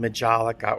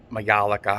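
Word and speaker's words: majolica: type of glazing is called majalika or mayalika however you want to pronounce it uh it's where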